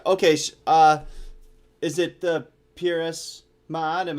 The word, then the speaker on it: Ma'at: You actually pronounced the name right. A lot of people don't on the first try. Peeress Ma'at.